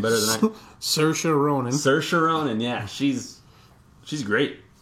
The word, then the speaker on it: Saoirse: how to say her name better Saoirse Ronan Saoirse Ronan yeah she's she's great like she just